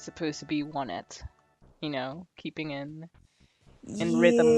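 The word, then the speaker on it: Onett: So now we're gonna be heading to Onet. Is that how you pronounce it? Onet? For the longest time I pronounced it that way, but I'm pretty sure it's supposed to be one it.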